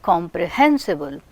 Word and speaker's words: comprehensible: Hensible is receiving primary stress, comp is receiving secondary stress. Comprehensible.